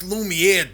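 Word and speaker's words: Lumière: It's pronounced Lumiere, dumbass. Wait, when'd you get back?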